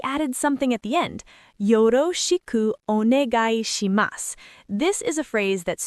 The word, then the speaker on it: よろしくお願いします: Let me break down the pronunciation because this is a tricky one. Yoroshiku onegai shimasu.